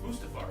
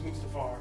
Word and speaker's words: Mustafar: I was like, it's Mustafar, right? And I Yeah. looked it up. I was like, I'm right! Of course it's Mustafar.